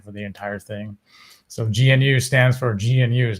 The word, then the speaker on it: GNU: Like they call it GNU. That's the way they pronounce it.